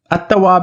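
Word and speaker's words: التواب: word assat next example I'm not saying Al but I'm saying atab means the acceptor of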